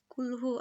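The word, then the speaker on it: قُلْ: Here the word kul means say, but if kaf is pronounced with wrong makras like kul, the meaning is distorted. That is, the meaning is changed. Because the word kul means eat.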